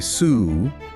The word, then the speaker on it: Soo: And finally, sue, which just means hand, though it's the Americanized pronunciation.